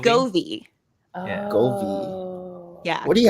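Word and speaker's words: Govee: v e oh c goie like love but like we don't say lovey but we say goie Gove Gove I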